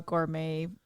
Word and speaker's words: gourmet: it's more of a gourmet style food instead of the uh instead of the the the dry hard food oh yeah that's French too Gourmet oh yeah you're right the tea is silent so what are you thankful